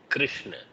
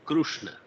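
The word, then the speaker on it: कृष्ण: The same thing like Krishna. So some people will say Krishna. Some people will say Krushna. So you have to basically pronounce it is neither Krishna nor Krushna. It is in between.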